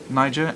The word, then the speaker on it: Niger: Niger, and that is the correct pronunciation, I did check, continues to suffer significant humanitarian needs due to conflicts, displacement, food insecurity, child malnutrition, and epidemics.